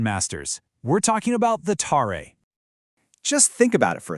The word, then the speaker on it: tare: It's the tare, pronounced tare.